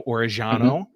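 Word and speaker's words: Orellano: So I'm going to go with Oriano because it sounds like he has tried intentionally to make his name more like regular Spanish rather than Argentinian Spanish.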